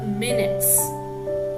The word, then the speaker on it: minutes: took down the minutes here i pronounced it as of minutes all right so that refers to a summary of what will happened in that particular meaning okay at the same time a word with the same spelling is pronounced as mynute means even the small